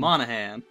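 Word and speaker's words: Monaghan: by Gotham's own Cameron did horribly mispronounce his name Monahan there we go Monahan Cameron Monahan I've not seen Gotham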